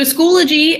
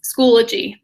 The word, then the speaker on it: Schoology: give a psa that it has one l and not two um so it's not like zoology but it's schoology um just so you